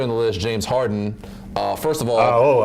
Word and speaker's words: Harden: Let's talk about number 3 on the list, James Harden. First of all, I think you said his name wrong. It's James Harden. No D. No D.